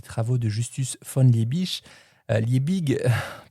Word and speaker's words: Liebig: Liebig, prononcé Liich qui mène des expériences